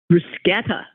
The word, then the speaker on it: bruschetta: and to the never ending irritation to some bruschetta not bruschetta really bruschetta bruschetta bruschetta Bruce that's